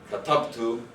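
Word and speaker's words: كتبت: So if this is the word I wrote, katabtu, apologize for the pronunciation, goes on the second last syllable because it's heavy.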